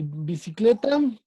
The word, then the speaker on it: bicicleta: Zapato, ¿cuál es la sílaba tónica? Pa. Ah, perfecto, muy bien. Ah, y bicicleta.